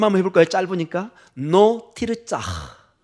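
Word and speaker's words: לא תרצח: 로 티르짜. 한번 발음 한번 해볼까요? 짧으니까. 노 티르짜.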